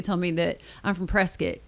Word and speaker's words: Prescott: They tell me that I'm from Prescott. You say it like biscuit and I will never forget that.